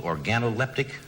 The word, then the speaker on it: organoleptic: job you have isn't real job did I pronounce that right that's right analytical organoleptic that's right specialist seafood that's right oh it